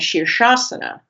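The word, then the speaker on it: Shirshasana: So in English we have sha and we have s app a pure sibilent. So in shabba in uh shasana shir is uh one sound sha is another sound. That's the pure sibilent. Shir sha s.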